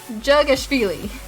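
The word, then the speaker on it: Dzhugashvili: The DZH is pronounced just like J, but it's fine. Jugashvili. Maybe that's a little better.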